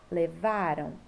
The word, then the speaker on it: levaram: E aí, a sílaba tônica, que é a sílaba mais forte, é a penúltima, ó. Encontraram, levaram, deixaram, né?